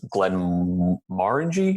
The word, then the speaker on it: Glenmorangie: orders at the bar Glen Margie more indie Glenn rang he he pronounces it with four different syllables I don't ever remember